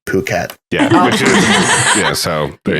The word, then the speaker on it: Phuket: You said fuck it, and he said it's pronounced Phuket.